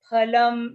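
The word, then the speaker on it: फलम्: sattvikan na nirmalam phalam now here again a lot of people tend to say fa so when you say fa your teeth will be touching your lips fa but this it's not that's not the right way to say you have to say this as pha so when you say pha both your lips will meet phalam so that is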